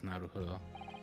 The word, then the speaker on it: Naruhodo: Yeah, it is Naruhodo.